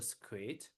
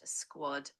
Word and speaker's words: squad: So, in the middle of the jungle, in the middle of the jungle, the squ the squid or squad. I quite That's pronounced squad.